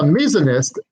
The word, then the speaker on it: misoneist: Not misogynist, thank you. It's a different one. As a misonist, MISONEIST, what do you hate?